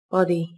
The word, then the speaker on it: body: Các bạn lưu ý, từ này có hai âm tiết, trọng âm rơi vào âm tiết đầu tiên các bạn nhé. Từ này đồng thời cũng có chứa âm o ngắn. Các bạn mở miệng và bật ngắn âm o là được nhé.